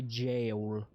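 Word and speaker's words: Gaol: The G in Gowl. How is it being pronounced here? Think about that for a second next time you want to make fun of me for pronouncing GIF. Hmm? That's jail. That's jail.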